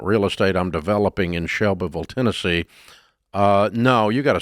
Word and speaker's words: Shelbyville: I love Shelbyville. It is but pretty, and that's how you say it. It's not Shelbyville unless you're a Yankee. Right. It's Shelbyville. But yeah, so one syllable.